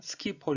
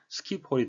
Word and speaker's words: Schiphol: 피로를 따라서 이동을 했습니다 쉬 포유 영국식 발음 되어있구요 미국 식으로 하면 스키폴 이라고 발음을 해야 되겠습니다 이것의 의미는 이닝 거의 스키피오 on 슬레이트 쉽 셸 배에 기록 이라고 번역이 될 수 가 있는데요 그 이유는 life 아쉽 스포츠 일러스트 인들 에잇 여기에 있든 호수의 빠졌던 많은 배와 관련해서 지어진 이름이라고 합니다 영어 c 영국 영어식 발음은 취 폴라가 발음 했구요 미국 식음 스키폴 되겠습니다 이와 같은 현상이